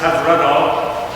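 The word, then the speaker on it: Hyfrydol: It's a Welsh tune, pronounced Have Rudol.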